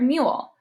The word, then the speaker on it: mule: our last is you the long vowel sound for you is you like in the word mule ma you all mule the word mule has along you because of the silent e on the end telling the you to say its name belong you sounds like